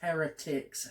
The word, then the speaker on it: heretics: I pronounced that as heretics. Heretics. Heretics? Yeah. Heretics. It's heretics, I know. As in, like, heritage. But with a K.